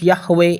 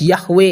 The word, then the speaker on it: Yahweh: exodus chapter 3 whole chapter the yhws renaults yahweh in the mobad stones at the lobby museum in paris archaeologists and historians of the bible confirmed that yahweh is the correct pronunciation of why hw is